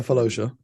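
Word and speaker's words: Sefolosha: off your bench playing behind cephalo is his cephalosa I hope I'm pronouncing his career yeah it's a felosia for okay uh so you had a guy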